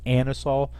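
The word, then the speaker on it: anisole: licorice all right is this Con compound it's pronounced anisol so it's actually not a nice it's uh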